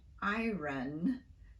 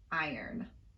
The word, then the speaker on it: iron: So over time, the pronunciation of iron became iron.